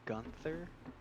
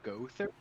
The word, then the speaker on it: Gowther: You kept saying Gunther. It's Gother. It's spelled Gunther.